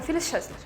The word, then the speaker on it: Phyllis Chesler: Um S mistura com X e fica Phyllis Chesler.